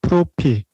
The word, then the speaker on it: 프로필: It is pronounced as propi.